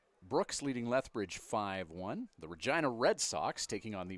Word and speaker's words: Regina: But, yeah, Mick Jagger, I believe, coining the phrase, Regina, the city that rhymes with fun.